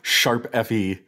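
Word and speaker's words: ♯FE: So I brought Dreamcatchers from Tokyo Mirage Sessions, Sharp FE, if you want the official pronunciation. It's not hashtag, it's sharp.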